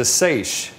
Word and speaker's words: seiche: metalimnion of the lake is known as a seiche. That's spelled S-E-I-C-H-E.